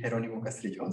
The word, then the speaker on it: Jeronimo Castrillon: so yeah my name the correct pronunciation would be Geronimo castillion so it were closed